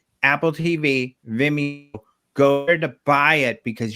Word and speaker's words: Vimeo: called veni then me how do you say that no yes vinmo no not venmo vimeo vimeo program okay yeah so you